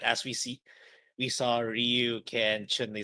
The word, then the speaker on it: Ryu: it's it's it no it's not it's it's Ryu all right and the only reason why you can say rayu is because they don't know how to pronounce